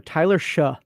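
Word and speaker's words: Tyler Shough: then everybody else the amount of disrespect for tyler shaw is that how you say his name yeah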